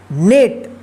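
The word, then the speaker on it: net: पढ़ा जाएगा तो देखिए इसका रूल है कि जब किसी वर्ड में दो कंसोनेंट के बीच में ई रहे तो इस ई का आप ए उच्चारण कीजिएगा ठीक है जैसे यहां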